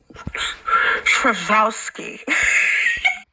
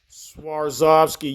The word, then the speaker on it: Swarovski: The word is pronounced Swarovski crystal, you dumb bitch. It's Swarovski. Swarovski, you dumb bitch.